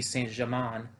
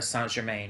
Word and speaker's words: Saint Germain: as we can see saint germain or san germain rather i i pronounced that wrong song jermaine is um still plotting [